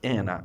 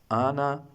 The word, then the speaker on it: Anna: It is not Anna. Anna in English, Anna in German.